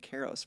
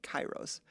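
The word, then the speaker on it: kairos: And I was told I was mispronouncing it cuz I was calling it keros for a long time but chyros.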